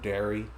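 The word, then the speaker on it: Derry: The town of dairy.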